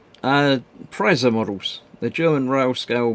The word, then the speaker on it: Preiser: It's pronounced Preiser models.